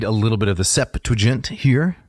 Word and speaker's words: Septuagint: So I'd like to read a little bit of the Septuagint here. Notice 3 syllables. The Septuagint.